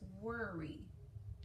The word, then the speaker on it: worry: So in this case, that OR, there's that bossy R, is making the O make the ER sound. So it's worry. Not worry, but worry.